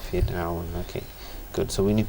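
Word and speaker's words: فرعون: Why is it empty mouth? Because the letter before it has a kasra on it.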